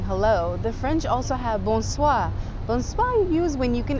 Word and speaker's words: bonsoir: and afternoon saying hello the French also have bonsoir bonsoir use when you can actually visibly see that it's nighttime or usually like after 4 maybe 5 p.m.